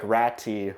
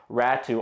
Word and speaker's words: Ratu: Ratu has played, I know it looks like Ratti, but it's pronounced Ratu.